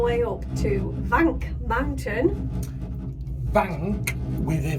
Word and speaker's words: Wank: Yeah, it's because it's pronounced with a V, love. Wank.